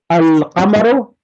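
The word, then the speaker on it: القمر: So al-qamaru, alif lam is pronounced.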